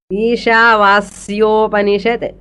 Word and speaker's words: Ishavasyopanishad: Ishala second Sha is Shankara Sha. Vasyanlo Sakara is Saraswati Sa. Pronunciation is custom. Ishavasyopanishad.